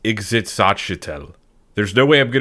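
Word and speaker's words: Ixitxachitl: It is pronounced exitel.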